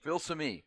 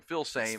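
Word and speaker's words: Filsaime: uh Xavier philam right is it filam philam yeah cuz I think we were saying I think I said it wrong a few times Jerry Hamilton our friend at inside Texas we were calling him Phil same and he talked to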